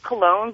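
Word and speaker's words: Coln: obviously what's up well my last name's cologne but it's spelled c o l n so if all hold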